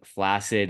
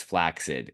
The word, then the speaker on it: flaccid: I won't quit pronouncing flaccid as flaccid. If it were meant to be pronounced flaccid, like placid, there would be 1 C, not 2.